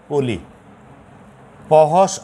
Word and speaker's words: ক্লিপ: খেয়াল করো, ক ল হস রাশি, তাহলে ল রস্যিকার, কলি, পহস অ প, কলিপ, এটা উচ্চারণ হয়ে যাবে কলিপ। কোথায়? ক্লিপ। কহস ল মানে তখন হসটা দিতে হবে, তখন উচ্চারণ ক্লিপ হচ্ছে।